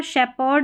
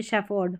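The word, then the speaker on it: shepherd: कम spellings में है, तो यहाँ पर शेपर्ड नहीं बोलते, शेफर्ड, फ साउंड आ रहा है, तो इसको आप हटा दें, PH को फ ही याद रखें।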